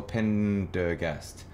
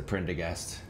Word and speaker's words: Prendergast: Is it Prendergast or Pendergast? It's spelt with the R. It's a Prendergast. OG, OG.